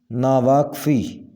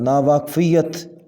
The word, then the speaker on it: ناواقفیت: اوپر زبر ہوگی نماز۔ ناواقفی، ایسا کوئی لفظ نہیں ہے، صحیح تلفظ ہوگا ناواقفیت، ناواقفیت۔ نزاع، صحیح ادائیگی ہوگی